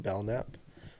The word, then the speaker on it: Belnap: media yeah so you can go to Belknap it's spelled and then Belknap b-e-l-n-a-p you can